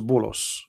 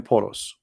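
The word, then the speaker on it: بولس: If you go to the interpretation, you will see that this is Bulos, which is the way of Muslims, they say and pronounce the name of Paul. In Arabic we call him Polos.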